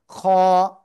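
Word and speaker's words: خ: আমরা বাংলায় পড়ি এই যে অক্ষরটা না, এরকম উচ্চারণ, খ। গলার শেষ ভাগ থেকে উচ্চারণ করতে হবে, খ খ খ।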